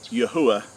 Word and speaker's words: Yahweh: the Creator which is Yahweh which is which is the correct way to pronounce the four Hebrew letters of our Creator's name and it's been substituted